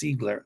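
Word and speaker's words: Ziegler: last name is Zigler in German it's Zigler the IE is like pronounced like z um or e um you know he was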